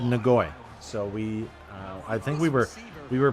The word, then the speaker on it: Ngoyi: And in every broadcast they said Ngoyi.